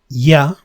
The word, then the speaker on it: ya: Just notice that it is pronounced a bit stronger than elle. Remember, llover, llamar. But in this case, with the y, we say ya, yo. It is a bit stronger. It's more fricative.